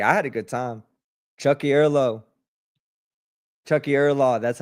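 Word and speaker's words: Tiocfaidh ár lá: Chucky Erlaw.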